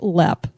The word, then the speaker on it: Leap: last podcast we said leap Castle it's actually pronounced LEP I know we figured that out and so but it is spelled like leap like a frog would leap or maybe Frog's LEP